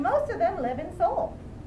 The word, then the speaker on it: Seoul: south korea is called seoul kind of like you say like the soul of your foot it's spelt a little bit differently at the our but it's pronounced soul they actually had the